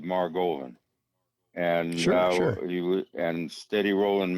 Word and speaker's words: Margolin: steady rolling Maran steady Rolland rhymes with Mar Goan and he and steady